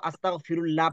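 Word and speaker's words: أستغفر الله: মত হবে ল হবে তার মানে কি হবে আস্তাগফিরুল্লাহ আস্তাগফিরুল্লাহ আচ্ছা এই ফিরুল্লাহ হবে না না আস্তাগফিরুল্লাহ হবে কোনটা হবে আচ্ছা এখানে কে কে আজ পর্যন্ত আস্তাগফিরুল্লাহ পড়তেন আস্তাগফিরুল্লাহ কে কে জি ওস্তাদ আমিও পড়ছি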